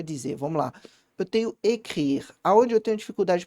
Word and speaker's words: écrire: Eu vou pronunciar primeiro EC. EC. Depois eu vou pronunciar RI. RI. Aí eu vou juntando mais devagar. Écrire. Écrire.